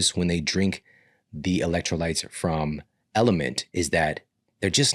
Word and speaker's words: LMNT: And element is spelled LMNT.